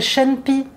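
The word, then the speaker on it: chen pi: Ça s'appelle Shen-Pi. Shen s'écrit C-H-E-N et Pi, P-I. Pi, c'est l'écorce et Shen, c'est la mandarine.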